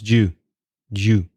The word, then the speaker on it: do you: cup of tea yeah notice raises pronunciation there do you becomes jew-jew it comes together you do fancy do